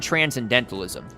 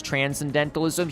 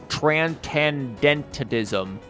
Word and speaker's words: transcendentalism: transcendentalism you daft bastard also it would help if you learn how to pronounce transcendentalism he's like Tran Ken dented ism like the [ __